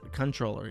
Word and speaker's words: comptroller: Animal Comptroller for 1776 says, I think it's controller. I don't think you actually pronounce it comptroller.